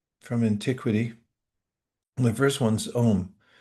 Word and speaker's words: Om: The first one's m spelled normally a u m and it gets truncated as most languages do when the vowels come together and we just pronounce it as one syllable.